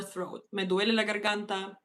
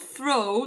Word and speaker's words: throat: So, not through, not sore through throat. Throat. T H R O A T. Throat. Yeah. Not throw. Not like throw. Not throw.